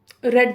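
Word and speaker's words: read: ठीक है, ये याद रखें कि रीड की सेकंड एंड थर्ड फॉर्म की प्रोनाउंसिएशन रेड होती है, बट उसकी स्पेलिंग सेम है।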